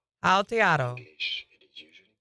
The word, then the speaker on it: Aotearoa: It is said as Aotearoa. Aotearoa.